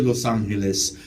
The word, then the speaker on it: Los Angeles: The proper pronunciation of my city's name is La Ciudad de Nuestra Señora, la Reina de Los Ángeles, sobre el río Porciúncula.